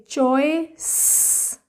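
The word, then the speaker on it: choice: good good च ओए चॉइस चॉइस last का ई साइलेंट सी को एस की साउंड से रीड करेंगे स की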